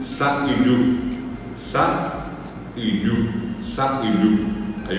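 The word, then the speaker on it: sa'yju: rato, es s a puso y j u sa yu.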